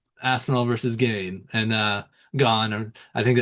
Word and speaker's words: Gane: But but yeah, the main fight, UFC 31, Aspenol versus Gain and uh Gone. I think I think it's pronounced gone.